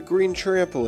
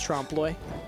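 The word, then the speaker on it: trompe-l'œil: this looks like a green triple ooh don't want to give it to the museum you mean a trampled green yes true Bob baleen it's pretty bad it's pronounced trompe l'oeil all right come on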